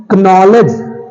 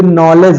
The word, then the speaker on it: knowledge: अगला है हमारा KNOWLEDGE, कनॉलेज, कनॉलेज नहीं है, ये नॉलेज है।